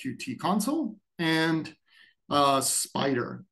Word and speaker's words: Spyder: console and uh spider spider spelled with a Y so spelled incorrectly kind of like Jupiter is spelled with a Y incorrectly um this uh that's because they both have py in them for python applications and python tools okay um there's a